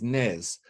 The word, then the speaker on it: nez: someone your nails is blocked so you deliberately pronouncing nose as Nez and of course in French we don't pronounce